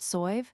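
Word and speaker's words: Sadhbh: than three Irish names sab pronounced soy sorcha brightite and serade excellent.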